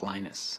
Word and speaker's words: Linus: speak Finnish it's Lino's when I speak English its Linus and I really don't